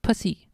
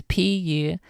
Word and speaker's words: Pucey: That's Adrian Pussy. Pussy? Puce? How are you supposed to pronounce it? It's Pucey.